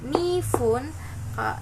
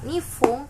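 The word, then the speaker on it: 二分: Nah, kalau menit itu belakangnya ada yang pakai pun atau fun. Jadi, kalau misalkan bacanya itu pung dan fung. Jadi kalau 1 menit itu ipung, kalau 2 menit itu nifun, nifung, kalau 3 menit itu sampung.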